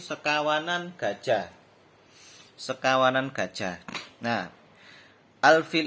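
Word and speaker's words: الفيل: gajah sekawanan gajah nah al-fil ini menurut hukum tajwid ya adalah Alif Lam Qomariah karena ada huruf alif lam bertemu dengan huruf a cara membacanya harus terang dan jelas ya e-trans dan jelas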